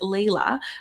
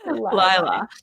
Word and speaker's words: Lila: my name was pronounced Layla, not Lila. And I remember being like, oh, dear tech team, can we please reprogram her so she knows that her name is supposed to be pronounced Lila?